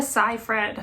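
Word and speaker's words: Seyfried: How do you pronounce her last name? Amanda Sai Fred.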